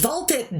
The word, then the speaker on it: Ball x Pit: Also, the X in Ball X Pit is silent. I thought it was, and then I saw a bunch of people saying the X, so I wasn't quite sure.